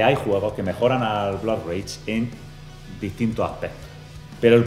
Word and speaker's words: Blood Rage: juegos mejor que bluray cómo ha dicho bluray se pronuncia Blood rage por favor Mira se